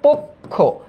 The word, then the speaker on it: পক্ষ: এরপর দেখো তো পক্ষ, এটার উচ্চারণটা কি, এটার উচ্চারণ হচ্ছে পক্ষ, এই যে পক্ষ।